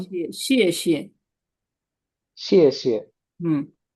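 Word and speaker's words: 谢谢: আছে এই শিয়ে উচ্চারণ শিয়ে শিয়ে শিয়ে। শিয়ে শিয়ে হুম, তো আমাদের একটু ভুলে আমরা এরকম বলি যে শি শি না শি শি, এটা ভুল হবে, শিয়ে শিয়ে।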